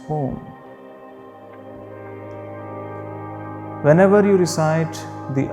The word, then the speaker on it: Om: It has 3 syllables in it: A, U, M. Together it becomes Om.